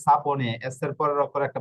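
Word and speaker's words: sapone: হচ্ছে আয় একটা বোকালে ওকে সালে এই যে সাপনে এস এর পরের অক্ষর একটা বোকালে রয়েছে এই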